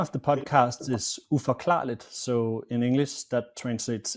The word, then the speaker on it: Uforklarligt: The name of the podcast is Uforklarligt, so in English that translates into unexplainable. Uforklarligt.